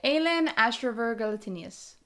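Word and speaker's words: Aelin Ashryver Galathynius: Please pronounce the name, please. Aelin Ashriver Galatinius.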